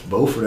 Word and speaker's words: Beaufort: and you say Bufane, they just go, well, Beaufort. It's Beaufort in North Carolina, which, by the way, is the way an Englishman using that family name would do it.